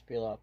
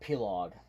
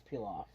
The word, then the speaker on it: Pilaf: It's Pilaf, believe it or not. Look it up. Not Pilog. It's not Pilog. It's Pilaf. Pilaf.